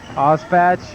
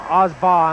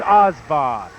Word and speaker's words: Osbaugh: Osbatch and his pass to Redmond. Mike Osbatch loses the ball. Osbaugh, I'm sorry. I have to not pronounce that name by reading it. It's Osbaugh.